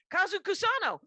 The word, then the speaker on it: Kazu Kusano: Spell it, Kyle. Oh yeah, it's Kazu Kusano.